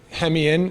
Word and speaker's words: Hemeon: so my name's hem in is how you say my last name um a week ago